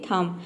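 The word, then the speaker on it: thumb: जैसे कि थम, यहाँ पे देखिए एम बी आया है तो यहाँ पे बी साइलेंट रहेगा।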